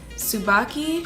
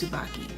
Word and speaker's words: Tsubaki: Tsubaki. It has a T in the front, but I think it's Tsubaki.